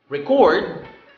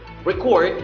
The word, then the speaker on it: record: record if the stress is in the second syllable record it means to document or to to lists okay to document to enter a data into a certain kind of media again record noun record verb next comment comments means